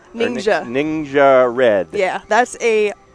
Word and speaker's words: Ningxia: And then you've got something, and you're going to help me with the pronunciation of this. It's is it Ningxia? Ningxia.